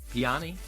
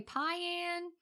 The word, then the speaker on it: Piane: I think because it's spelled like Diane, only there's a P, so I want to say Piane.